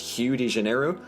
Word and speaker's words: Rio de Janeiro: make very little sense apparently rio de janeiro is supposed to be pronounced hugh digenero um and to that